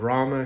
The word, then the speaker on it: Ram: So it provided a route back safe route back for Lord Lord Rama say Lord Rama but in Gujarati Hindu we call it Ram.